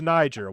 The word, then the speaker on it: Niger: it's a niger flag that's not how it's pronounced johnny are you talking about the country it's niger when you're talking about